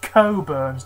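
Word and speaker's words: Cockburn's: Port this is curns It's pronounced curns despite what some of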